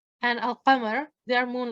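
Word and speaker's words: القمر: Al-qamar. Al-qamar means the moon, and you can see when you hear al-qamar, you can hear the lam. Ash-shams, as you can hear that I'm not pronouncing the lam.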